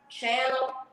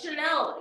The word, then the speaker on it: Chanel: Instead of calling me Chanel, they call me Channel. To my fucking face, they just say that. I'm always like, no, it's Chanel. You know, it's spelled just like the perfume or the purse or multiple people throughout history.